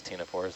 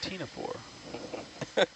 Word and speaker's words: ctenophore: C as in ctenophore. Every time I write ctenophore now, I hear your voice saying that. You want me to open the... I'll probably wait to open the box until we stop moving. I think we need to do a Sesame Street song about, silent letters and I'm not submitting